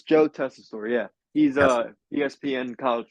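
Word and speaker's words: Tessitore: Wade Barrett welcoming us and he introduces Joe tesor did I say it right Joe tesor testosterone Joe oh my thing was it was it's Joe testor yeah he's a ESPN college football guy I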